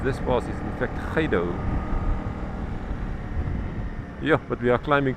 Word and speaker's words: Gydo: and spoke about it, I called it the Guido pass, which is apparently completely wrong and maybe only showed my ignorance. But I was corrected and the correct pronunciation of this pass is in fact Khaido.